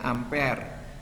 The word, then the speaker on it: ampere: arus listrik satuannya ampere tulisannya ampere Tapi bacanya ampere singkatannya abshar jumlah zat